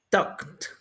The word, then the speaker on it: talked: Termina con la K, talk. Entonces vamos a pronunciar la ed como una T también. Talked.